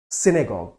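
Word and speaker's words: synagogue: इसका प्रोनाउंसिएशन है सिनेगॉग।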